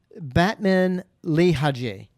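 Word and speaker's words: Batmanghelidj: That's prolonged dehydration causing that damage, which actually and I had to write down how to pronounce his name. Oh. It's Batman Lehaji.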